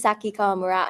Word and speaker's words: Saki Kawamura: Yes, my name is Saki Kamura and I'm director of the show.